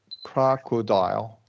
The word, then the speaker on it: crocodile: Yeah, and we're gonna do a short O schwa for those O's. Okay. Crocodile.